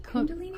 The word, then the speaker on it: Kundalini: Is that how you pronounce it? Kundalini. Kunal. Kundalini.